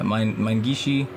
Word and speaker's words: Minegishi: Is that how it's pronounced? Yeah, Minegishi, and then there was Kenta Nagata.